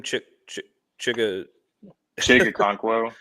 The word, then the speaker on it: Okonkwo: And how do you pronounce that guy's name? Chigga Okonkwo. Chigga Okonkwo.